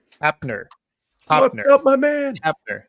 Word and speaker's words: Hoeppner: Hoeppner. The O is silent, people.